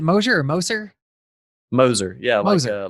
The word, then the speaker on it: Moser: like a bulldozer, Moser. Moser. Okay. Yeah. Because it frustrates me when people say going. And I'm like, no. You got to put the emphasis on the other syllable, man.